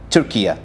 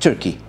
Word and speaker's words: Türkiye: first the united nations announced changing the writing of the name turkey in english and its pronunciation in international organizations to become turkey not turkey according to a request made by the turkish government in order to match its pronunciations both in turkish and arabic and to prevent any